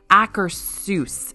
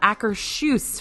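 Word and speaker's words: Akershus: pronounced many times but it's like acarus it's not aers from what y'all have told me it's acarus like aar's house kind of thing okay if I'm wrong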